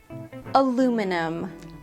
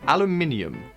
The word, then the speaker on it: aluminium: Aluminium. This is a famous one. Um, the British and and Australian have an extra letter in it uh or an extra syllable and in this case it is stressed aluminium.